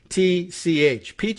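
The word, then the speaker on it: Pietsch: this brian peach page how does he pronounce his p-i-e-t-c-h peach sounds nice we'll give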